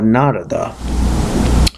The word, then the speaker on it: Narada: these questions to the great rishi narada or narada some people pronounce it Narada some people pronounce hoon has